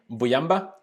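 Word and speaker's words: Mbuyamba: signed javier xavier donald pronounced his name boyamba um an 18 year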